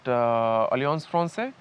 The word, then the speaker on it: Alliance Française: He got us a show at Alliance Française, if that's how it is pronounced.